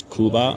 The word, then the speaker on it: Cuba: vocab word like hey how do you say Cuba? Oh it's kuba.